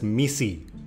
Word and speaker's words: MECE: Pronounced as MECE, it's a four-letter acronym that stands for mutually exclusive and collectively exhaustive.